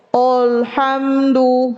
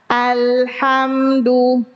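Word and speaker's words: الحمد: Nih menebalkan hamzah. Olhamdu harusnya a alhamdu. Mengqalqalahkan lam alhamdu. Nah. Buru-buru biasanya sering nih alhamdu keliru itu bacaan alhamdu bukan al menghilangkan sifat tawas lam.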